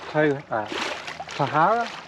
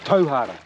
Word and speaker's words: Tauhara: And it used to be called Tahara. Now it's Tauhara.